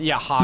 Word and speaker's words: Roger: They all have R names and they're pronounced with an H, and it's like Yeah. just shut the fuck up. Yeah, it's Hodger.